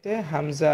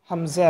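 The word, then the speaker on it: همزة: এই উঁচা জায়গার এই বরাবর থেকে হামজা হা উচ্চারণ করতে হবে। এই প্যাটার্নটা আপনাদেরকে মনে রাখতে হবে। গলার এই শুরু থেকে, মানে ছেলেদের যে জায়গায় উঁচা একটা স্থান আছে, সেখান থেকে আমরা হামজা হা উচ্চারণ করব।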